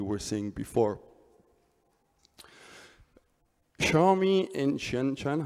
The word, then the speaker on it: Shenzhen: seeing before xiaomi in Shenzhen hope I pronounced that correctly should be Shenzhen and it's interesting because